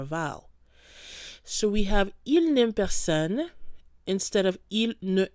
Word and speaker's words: il n'aime: So once you see an apostrophe in French, you want to make sure to run the sounds together. You don't pause, il ne aime, it's just going to flow. Il n'aime.